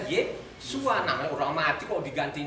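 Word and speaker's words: Yeshua: Jadi tulisannya di sana aslinya Yod Shin Ayin. Jadi bacanya Yesua.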